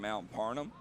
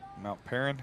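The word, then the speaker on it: Mount Paran: About 3 minutes left to go in the football game here, live from Mount Parnham. If I pronounce it wrong, please correct me. I do not get offended. Mount Perrin.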